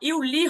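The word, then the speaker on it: Juli: কেন জুন হচ্ছে না? এটা হচ্ছে ইয়ট। ইয়টের জন্য উচ্চারণটা কি হচ্ছে? ইয়ের মতো হচ্ছে, ইউ এর ইউনি। মতো হচ্ছে। হ্যাঁ, এই যে ইউনি আর ইউলি।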